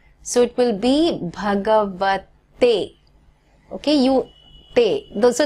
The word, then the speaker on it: Bhagavate: So it is Om Namo Bhagavate. Now understand, it's not Bhagavate, okay?